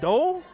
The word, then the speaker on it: Dole: Dole, like Cole, like Liz Tynan was saying.